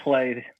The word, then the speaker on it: Klay: It looks like Klay, pronounced like Klay, which I think we do just to screw with people. It's a Swiss German name.